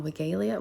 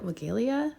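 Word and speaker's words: Weigela: I'm going to pronounce it wrong. Wiggleia. Wiggleia is how you pronounce it, I think.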